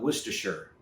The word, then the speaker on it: Worcestershire: we're your sister sauce uh I call it Worcestershire that's actually the proper pronunciation I'm not trying to flex but uh